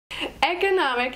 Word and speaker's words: economic: she's in labor economic economic has four syllables economic with the emphasis on the third syllable economic economic if you